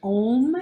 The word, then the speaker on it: Om: letting go and we'll break the sound ohm into three syllables first ah then o and last um like an ng sound that goes up through your nasal passages so the home will